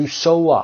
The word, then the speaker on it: sew: با یک سوزن to sew up S-E-W sew تلفظ میشه to sew up.